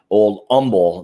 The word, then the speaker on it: Old Humble: So yeah, if you guys haven't checked out the Old Humble, or it's actually, somebody told me Old Humble, the H is not pronounced.